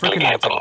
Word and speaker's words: Verkligheten: Is that how it's pronounced? Verkligheten.